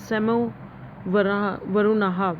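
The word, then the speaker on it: शं नो वरुणः: अभी हमें मिस नहीं करना है क्या है, the emblem of Indian navy continent, the motto सेमनो pronounced as सेमो वरुणाहा which means B auspicious to earth.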